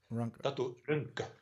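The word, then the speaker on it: Tatu Rönkkö: Is that how you pronounce his name? Oh, that's the Tatu Ronco. Tatu Ronco.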